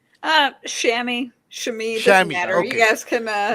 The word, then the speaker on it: Shami: How do how do you pronounce your name? Uh Shami.